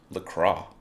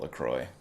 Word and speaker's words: LaCroix: to get sponsored by le cro lacroix i'm told is how to say it uh but i call it lacroix because i'm a dumb american ah so good ah